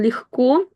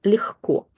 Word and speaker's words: легко: On легко, and by the way, that word, I'm sure you know it, but we pronounce it with the х sound. Легко, легко.